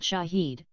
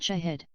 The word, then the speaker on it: Shahed: the word Shaheed mean drones from Iran are not called Shaheed but Shahid and the word Shahid is translated from Arabic as a witness since these are single root words both pronunciations are considered correct drone Shahid 136 Iranian